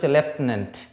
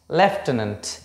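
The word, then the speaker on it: lieutenant: তাহলে উচ্চারণটা উচ্চারণ লেফটেনেন্ট। লেফটেনেন্ট।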